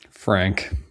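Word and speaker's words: Phranque: Frank spelled with a ph and a Q. Is that his name? P H R A N Q U E.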